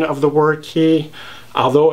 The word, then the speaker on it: Cay: natives and the tourists based on how they pronounce the word with the taurus mispronouncing the word as k that being said if you do want to pronounce it k i'm pretty sure no people aren't going to have much difficulty understanding what you're talking about so you know don't feel too bad about that but i'll continue to pronounce it as key as in qual kibawa well that's about it